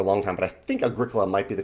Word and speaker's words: Agricola: that in my mind, I always pronounced it Agricola, rhymes with rock and rolla.